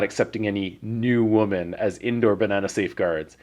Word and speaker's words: 女: I wrote new and it's not just new but it's new it's a very strange like your lips kind